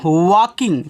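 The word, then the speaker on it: walking: जी इसको पढ़ते हैं वकिंग तो यहां पे जो ल होता है आपका साइलेंट रहेगा बच्चों और वकिंग का मतलब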